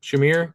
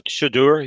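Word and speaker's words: Shedeur: Shamir Sanders, I think his name is. Shadur, yeah.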